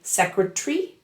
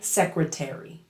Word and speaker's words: secretary: And also worth noting, American English fully pronounces that ARY ending, while British English tends to drop the vowel in it. British speakers say secretary, and Americans say secretary.